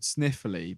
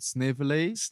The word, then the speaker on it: Snively: Well, we missed out this guy called, I thought he was called Sniffly, but he's called Snively. It's spelled like Snively.